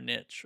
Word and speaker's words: niche: get niche, not or niche or however you want to say it. I say niche because that rhymes with rich.